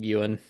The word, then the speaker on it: Ewan: That's how they say it. McGregor. Ewan McGregor. It's actually Ewan. Look it up. I'm team Euan in the comments below.